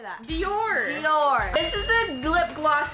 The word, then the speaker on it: Dior: is expensive how do you say that Dior Dior this is the lip gloss that you can